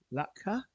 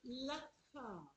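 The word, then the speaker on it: Latxa: So on bronze, this is a black-faced Lakha. Or Lakha. There's two different ways of pronunciation.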